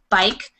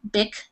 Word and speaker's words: bike: other words that rhyme with hike would be bike. And again, B-I-K is not an English word, bick, but you would say it bick if it was. It's not, so it's bike.